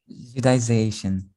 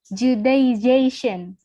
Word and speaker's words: Judaization: How to pronounce it perfectly? Judaization. Judaization.